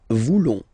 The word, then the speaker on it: voulons: Then for nous, classic ending, ONS, don't pronounce the S, just pronounce the on. Nous voulons. Nous voulons.